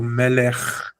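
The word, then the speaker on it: מלך: Here in melech, the Sheva says, don't put a vowel, pronounce kaf as normal. Melech, without a vowel.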